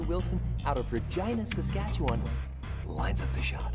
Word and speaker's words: Regina: w wilson out of regina saskatchewan lines up the shot this form looks good that's why regina rhymes with fun the accounting bullet scene